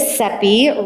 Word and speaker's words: Cepee: So my name is Cepee, rhymes with Peppy, and I teach women